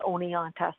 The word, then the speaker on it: Oneonta: That was the hardest thing I learned to say last year, was the word Oneonta.